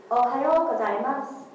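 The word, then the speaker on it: おはようございます: Its pronunciation is "Ohayo gozaimasu." Ohayo gozaimasu. Ohayo gozaimasu.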